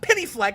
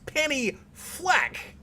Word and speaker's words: Penny Fleck: be but it's it's it's not penny fleck it's penny flack when you're like penny fleck like bad flag penny